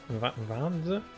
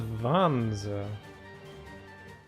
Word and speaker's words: Vanzer: Is that how he pronounced it? Vanza? Gain the upper hand in battle by aiming for enemy parts to destroy. Mix and match various weapons and parts to customize your Vanzer. He says Vanza.